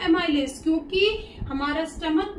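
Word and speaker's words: chyme: The churn food is called काय। इसको हम बोलते हैं काय, हम इसको चाइम नहीं प्रोनाउंस करेंगे, ये है काय।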